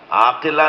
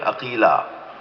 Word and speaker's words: عقیلہ: بیت کا کمال ہے۔ عقیلہ، عقیل، عاقلہ نہیں، عقیلہ۔ جس لہجے میں قمر بنی ہاشم بولا جاتا ہے نا، اسی لہجے میں